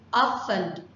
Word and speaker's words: often: Often or often. Chúng ta có hai cách đọc ở từ này.